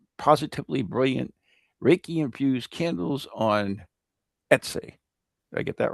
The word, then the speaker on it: Etsy: Anyways, and also our good friend, Leslie Martin's Positively Brilliant Reiki-infused candles on Etsy. Did I get that right? Etsy.